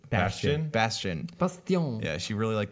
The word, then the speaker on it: Bastion: Bastion. Bastion.